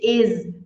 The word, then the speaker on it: is: She is beautiful She is beautiful is é com som de z Ah meu Deus falei